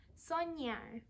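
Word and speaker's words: soñar: the same thing where we have this little accent already in so it's pronounced sonja for today's craft i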